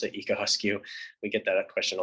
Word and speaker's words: Egoscue: thing we should go over real quick is higosku um that's how you pronounce it ika huskyu we get that question a lot and it